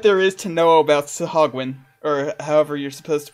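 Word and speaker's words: Sahuagin: I know that it's pronounced Sahagwin.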